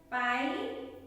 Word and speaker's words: pie: Okay, in IE as a long I sound, say the sound of the letter I by its name. The E is silent. Okay, always in IE word the E is silent. What they have given? Pie, tie, die.